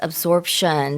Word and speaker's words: absorption: Yes, absorption. So, there is a P in there. Although it's very difficult to hear, it's spelled a B s o r p I O N absorption.